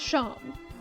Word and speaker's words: Seam: Despite the fact that what they’re actually saying would sound like “The name’s Shawm, pronounced Shawm” Wouldn’t it make more sense for them to say their name is spelt like “seam”?